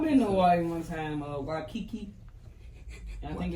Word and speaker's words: Waikiki: I've been to Hawaii one time, Waikiki.